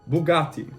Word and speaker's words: Bugatti: is actually italian so the way you pronounce bugatti is bugatti boo boo bugatti you can get a